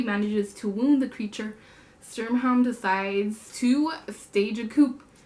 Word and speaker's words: Sturmhond: Yeah, Sturmhond.